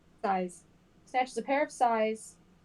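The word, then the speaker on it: sais: How do you pronounce that? Size? Size.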